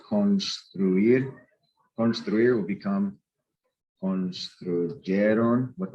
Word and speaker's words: construir: Any verb that ends in UIR, not GUIR, but UIR, where you actually pronounce the U, like construir.